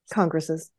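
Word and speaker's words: Congress's: okay right and you how do you pronounce it congresses okay so that so the apostrophe makes a noise we have a split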